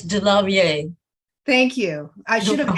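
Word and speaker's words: DeLarverie: legendary male impersonator stormy de la larvare oh michelle did i say it correctly it's de la vie thank you i should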